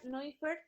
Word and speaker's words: Neufert: Se pronuncia Neufert, se escribe Neufert.